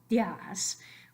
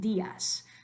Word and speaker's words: días: Say it in one syllable, días. That's ridiculous. We want días. So in order to be able to divide the I from the A, we give it its own syllable. In writing, we give it the accent mark.